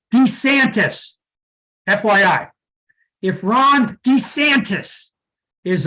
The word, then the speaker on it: DeSantis: DeSantis okay hey folks his name is pronounced DeSantis FYI if Ron DeSantis